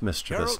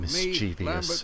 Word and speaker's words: mischievous: It's mischievous, Carol, not mischievous, me, as a lot of people say. Siri with a dummy.